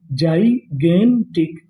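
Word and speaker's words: gigantic: जी आई। इसे यहां पे हम लोग पढ़ेंगे जाई। क्या पढ़ेंगे? जाई। जी ए इसे पढ़ेंगे गे तो मीनिंग क्या बनी? जाइगेंटिक।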